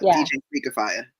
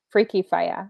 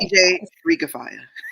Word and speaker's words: DJ Freak Fire: Say it like DJ Freak Fire. Freaky Fire. Okay. DJ Freak Fire.